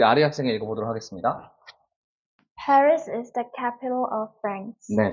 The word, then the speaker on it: Paris: 저거 빨이라고 읽어야 되나 근데 여러분 빨이라고 읽는 거는 사실은 불어에 가깝게 읽는 거고요 영어식으로 읽으려면 스라고 해가 되는 거예요 par 전부 다 운가